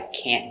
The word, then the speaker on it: can't: But the most common is with the stop t with a tongue up. Can't. I can't do it. Especially for a short answer. If you have a short answer, put your tongue up.